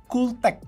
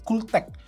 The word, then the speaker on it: Cuktech: kasih tahu ke kalian pembacaannya adalah cotech ya jadi k-nya itu enggak dibaca jadi lebih kayak ke Col gitu kayak pembaca pelafalannya gitu cooltech nah ini adalah versi